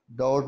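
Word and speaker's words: doubt: डाउट, डाउट में B silent letter है, बी को हम नहीं पढ़ेंगे तो ये होगा डाउट, इसका मतलब होता है शक।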